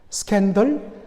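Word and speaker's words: σκάνδαλον: 그런데 여러분, 대부분의 영어 단어가 바로 그릭, 헬라어나 라틴어에서 나왔듯이 이 단어도 스캔들도 바로 스칸달론이라는 헬라어에서 그대로 빌려왔습니다. 스칸달론 비슷한 발음이죠.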